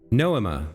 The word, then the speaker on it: Noema: Noema, that's how she pronounced it, the Noema system.